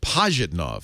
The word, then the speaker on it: Pajitnov: Pajitnov.